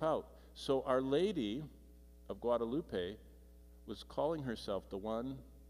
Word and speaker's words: Guadalupe: Coatlaxupe, whatever, I can't pronounce it, which is pronounced Guadalupe, and sounds remarkably like the Spanish word Guadalupe.